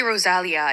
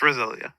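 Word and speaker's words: Rosalía: know know how to I always say Rosalia in my head I used to say that but it's Rosalia um no I'm the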